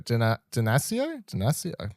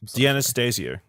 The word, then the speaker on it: D'Anastasio: Dinasio? D'Anastasio.